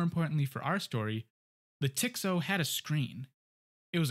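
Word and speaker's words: TX-0: of the lab was the tx0 or tick so as a lot of workers at MIT pronounced it this was one of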